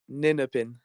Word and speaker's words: Ninepin: That it's pronounced Ninepin. Oh, my apologies. Ninepin? No, it's fine. It's just wanted to get it out there. All right, I'll say that correctly next time, Ninepin.